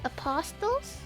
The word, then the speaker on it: apostles: Maybe they're not monsters, but they're called apostles. What does the word apostle mean anyway? I think I know it probably has to do something with like gods or something. Oh, the tea is silent.